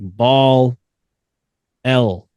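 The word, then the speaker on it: Baalial: for him he said make sure you spell it b a a l i a l like ball L like instead of b ball L right so and a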